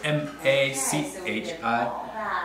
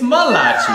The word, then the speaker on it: Malachi: Because when he goes to say his name, he always skips one L and goes M-A-C-H-I. Which sounds like Machi. But your name's not Machi, it's Malachi. No. It's Malachi, Malachi. Yeah.